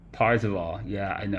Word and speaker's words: Parzival: Parzival. Yeah, I know, I keep saying that real bad.